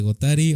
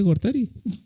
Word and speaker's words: Gortari: de Carlos Salinas de gotari o de Ernesto Cedillo cortar dijiste gotari No dije Gortari no me estás escuchando bien